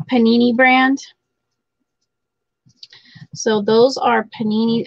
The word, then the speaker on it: Panini: go this is panini is that how it's pronounced panini like the sandwich panini brand so those are panini and the year on these are 2000 oh they're 20 20.